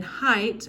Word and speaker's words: height: And then height, as we said before, is pronounced like there's only an I in the word, and the GH is silent in that as well. So weight and height.